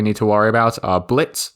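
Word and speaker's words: Blitzø: to worry about are Blitz the O is silent Moxie and Millie these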